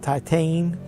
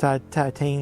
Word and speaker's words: Titane: It's called Titane. That's kind of like pronounced Titane, like from titanium.